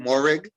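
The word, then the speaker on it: Moehrig: Morig, yeah.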